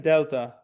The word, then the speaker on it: Delta: D as in Delta. Pronunciation as in door, okay?